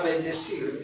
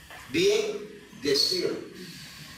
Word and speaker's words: bendecir: Bien decir, pero esa palabra no se dice bien decir. Cuando se junta esa palabra, en la gramática castellana, se elimina la i y queda como bendecir, ¿correcto?